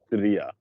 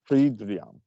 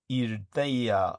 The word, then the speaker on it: Hridaya: It could be Aquino was mispronouncing it, but he always said it as Irdaya. Irdaya. It's kind of like Urdaya, but Hridaya, I think it was. Hridaya was how he uttered it. Yeah, you could say it like that. Yeah, the H is silent, just like in English.